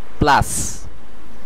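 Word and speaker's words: place: এটার উচ্চারণ হবে অপোজে এরপরের শব্দটিতে একই রুল ফলো করা হবে শেষের সাইলেন্ট থাকবে প্লাস প্লাস প্লাস যার অর্থ জায়গা আপনারা বাংলাতেও দেখতে পাচ্ছেন এটির উচ্চারণ হবে প্লাস এর পরের শব্দটিতে আমরা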